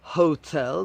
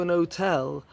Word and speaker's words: hotel: In normal, common British English, you should pronounce the H, a hotel.